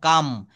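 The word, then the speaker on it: calm: আমি শান্ত আই এম কাম এটা কিন্তু উচ্চারণ হবে সি এ এল এম এটা ক্লাম বলবো না এটা কাম বলব হ্যা আমি কৃতজ্ঞ আইম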